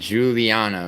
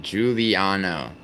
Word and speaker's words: Giuliano: It's pronounced Giuliano. Yeah, Giuliano.